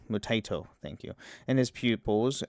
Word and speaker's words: Mutaito: Taito. Mutaito, thank you.